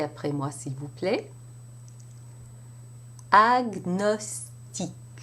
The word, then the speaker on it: agnostique: And in these exceptions, the G and the N are pronounced separately, as you would have it in English. Répétez après moi, s'il vous plaît. Agnostique.